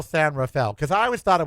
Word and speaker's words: San Rafael: It's So, it's San San Rafael.